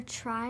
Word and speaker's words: tri: Sometimes the pronunciation is a short I instead of a long I, but the meaning stays the same, and we don't spell it any differently.